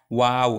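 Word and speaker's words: و: ফাঁকা থাকবে এরপর আস্তে করে বলতে হবে ওয়াও ওয়াও এখানে ও তারপরে আকার যখন আমরা বলবো তখন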